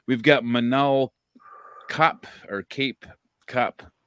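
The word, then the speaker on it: Kape: We've got Manal Cop or Cape Cop. It looks like Cape, it's pronounced Cap, versus Felipe dos Santos.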